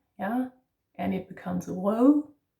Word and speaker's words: rød: We have the slashed O or the broken O, ø, yeah, and it becomes rød. That's also the soft E. It's more like an sound, rød, yeah, and then bede.